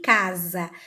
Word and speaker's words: casa: Então, quando ele está sozinho entre duas vogais, ele vai ter o som de Z. Eu coloquei 3 exemplos também: casamento, asa e casa. Se vocês pronunciarem essas palavrinhas em casa, vocês vão perceber que ao pronunciar, o som sai de Z.